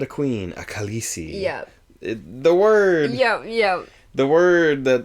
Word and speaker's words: Khaleesi: It's like, actually, the way that I set it up, it would be pronounced Khaleesi, but I know that everyone who's read the books has read it Khaleesi.